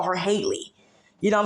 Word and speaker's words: Halle: we call Holly Berry but they call her Haley you know what I'm saying but it's spelled the same and then coincidentally they both